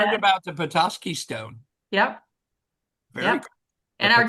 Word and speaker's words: Petoskey: It's Petoskey. Did I say it right? Petoskey, Michigan. Yes. Petoskey. With a little bit of a nasal because there's a Petoskey stone, right?